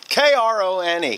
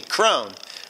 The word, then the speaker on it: Krone: You know, you guys have 75,000 different ways to pronounce Krone. K-R-O-N-E. Krone.